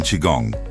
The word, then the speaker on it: Qigong: Like in Qigong, which is an ancient Chinese mind-body practice that